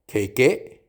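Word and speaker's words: ケーキ: Cake को कहा जाता है खेके।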